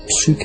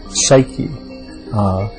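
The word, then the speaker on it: ψυχή: given a name and the name was suuk in Greek Psy uh is how we pronounce it now and the word means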